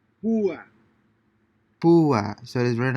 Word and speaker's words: púa: Since these words have a written accent over the letter U, the diphthong is broken and the two vowels are pronounced separately. Púa, Pua.